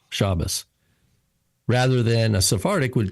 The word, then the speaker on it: Shabbos: And the accent's on the first syllable, Shabbos.